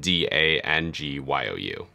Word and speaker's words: Dangyou: That's the correct way, but on YouTube, I spell it Dangyou, just so it's easier to spell. Right, okay. And the pronunciation is the exact same? Yep, just Dangyou, okay. Don't pronounce the G.